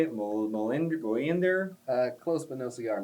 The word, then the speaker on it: Mjolnir: Mjolnir? Close but no cigar. Mjolnir.